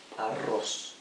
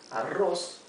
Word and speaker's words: arroz: Yo hago arroz. Arroz means rice, as I've written here in green, rice. Yo hago arroz. Remember, the double R means you pronounce it R, the hard R.